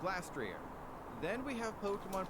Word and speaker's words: Glastrier: According to Cerebi, though, they are officially pronounced Glastria, Spectria, and Calyrex. But according to the latest Pokemon Presents in August 2023, the ghost horse is called Spectrier. This means the ice horse is now called Glastrier.